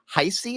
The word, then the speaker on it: Heisey: This book that you and Jill Heisey, is that how you pronounce Jill's last name?